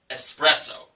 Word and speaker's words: espresso: But let's be correct on the pronunciation. It's espresso.